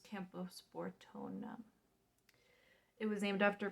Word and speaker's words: Camposportoanum: And then it is a philodendron, and the species Camposportum. It's Camposportoanum.